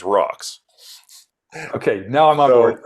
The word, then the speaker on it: RAUX: all right okay so you gotta pronounce it the cool way which is rocks okay now I'm on